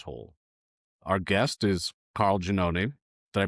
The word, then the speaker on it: Giannone: Our guest is Carl Giannone. Did I pronounce that right, Carl?